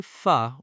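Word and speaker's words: phở: P-H-O. How do most tourists say it? Pho, like go. Is that correct? No, it is pronounced pho, like a question, or pho, like the start of the word fun.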